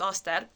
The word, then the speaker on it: Auster: So, uh, you know my name now, which is Auster. Uh, it's it's a Hungarian pronunciation, but I like it better than the English one.